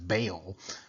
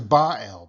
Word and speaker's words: Baal: We sometimes, pronounce it as Baal, but it really is Baal because the Ba is important.